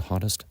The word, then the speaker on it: hottest: hottest hottest and again American English pronounced with a D sound hottest and equality is as